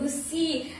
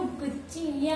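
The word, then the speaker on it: Gucci: ओ मेनू गुच्चिया दी लोड़ी तू चाही दे, तो गुच्ची वाला ही इसका सही प्रोनाउंसिएशन है गुच्ची गुस्सी नहीं।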